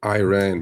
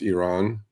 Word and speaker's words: Iran: I do understand Americans pronouncing Iran because that I, right? Okay. Uh, but truthfully, it's Iran, and truthfully, it's Iraq.